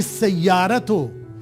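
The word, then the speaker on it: السيارة: ही सयारत this car अब यहां देखें ही जो उसके नीचे कसरा था वो सीधे सीन पर चला गया अलीिफ लाम दोनों जो है साइलेंट हो गए क्योंकि ये हुरूफ शमसी था इसको याद करना जरूरी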